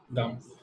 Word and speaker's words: Gam: This is exactly the same pronunciation of Gam. Gam.